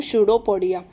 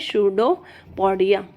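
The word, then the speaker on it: pseudopodia: क्या कहते हैं हम शूडोपोडिया पी इसमें ना साइलेंट रहेगा प्रोनंसिएशन में शूडोपोडिया तो इसका ना मैं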